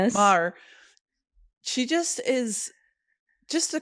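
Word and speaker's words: Maher: Alana Mar. Yes Mar.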